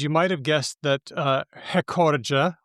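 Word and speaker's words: recorde: It's spelled with no accent mark and that means that according to Portuguese rules, which I barely understand, but I assume they're kind of like Spanish. This is a good linguistic basis. Yeah, sure. Why not? The penultimate syllable, the second to last syllable, usually gets the stress unless there's an accent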